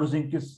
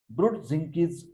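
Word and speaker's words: Brudzinski: Okay, then this is Brodzinski's sign. Pronunciation, Brod, Z-I-N, Zinskit sign, flexion of the neck.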